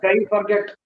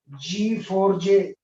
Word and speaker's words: Guy Forget: He's not a guy forget. He's not a guy forget. He's not asking you to forget him. He is pronounced as G4J. बाकी के letters पूरे silent.